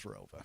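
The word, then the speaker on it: ROWVA: an additional town added after I graduated, but it's always been pronounced as Rova.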